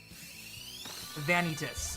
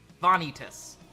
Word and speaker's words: Vanitas: a long awaited friend vanitus ah okay vanitas all right vanitas vanitas gotcha thank you for correcting me Max I'm pretty sure